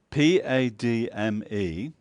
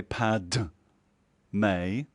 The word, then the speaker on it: Padme: Padme, the D is actually more like a full stop. So you don't say Pad May, it's more like Pad. You're on the edge of D, May.